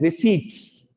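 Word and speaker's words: receipts: यहां पर रिसिप्ट्स चल जाता है, लेकिन ऑफिशियल इसका प्रोनाउंसिएशन क्या है? रिसीट्स. रिसीट्स थोड़ा स्लो मोशन में, रिसीट्स. पी साइलेंट रहता है.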